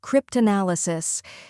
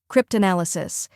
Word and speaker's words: cryptanalysis: welcome to the channel today we're mastering the pronunciation of the word cryptanalysis it may sound a bit technical but don't